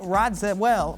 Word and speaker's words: Radziwill: Ramona Singer, Heather Thompson, and Carol Radziwill. Radziwill, is that how you say it? Radziwill, yeah.